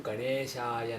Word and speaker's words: Ganeshaya: If you take this mantra, the correct pronunciation is Om Ganeshaya Namah. Om Ganeshaya Namah. Some North Indians pronounce this Ganeshaya as Ganeshaya.